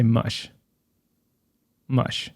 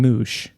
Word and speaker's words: mush: it or mush mush i say mush mush with the you strongly pronounced i'm not saying moosh well no that's not